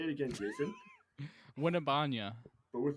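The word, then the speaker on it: Wembanyama: whose last name is so goddamn hard to pronounce. Winnebanya. Oh, Winnie. oh, Jason knows it. Say it again, Jason. Winnebanya. But with like a more like Barry White voice. Like a sultry voice. Yeah. Wimbenyama.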